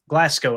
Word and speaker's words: Glasgow: So Graham Glasgow, Glasco, I think is how you say it.